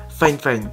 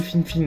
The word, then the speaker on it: Fifine: De la marque Fine Fine, bon ça s'écrit Fine Fine hein, mais ça se prononce Fine Fine, et on peut voir juste en dessous le casque qui ressemble à ça, qui est assez original.